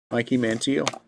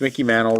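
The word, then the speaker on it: Mickey Mantle: hey cheio Randy jansson Mikey Manel yeah yeah yeah I know it's Mickey Manel relax it's more fun to say their name wrong than it is right Bo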